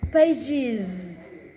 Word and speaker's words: pages: Ending at the 1 page become 2 pages. That voice Z. 2 pages. It's not 2 pages. And 2 pages. Voice Z. Even though it's spelling the word like this, and American English it pronounced the word like this.